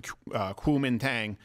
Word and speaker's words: Kuomintang: The opposition party, the KMT, I think it's pronounced the Kuomintang, they won a lot of mayoral races, including Taipei.